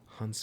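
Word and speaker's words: Hounsou: Hansu.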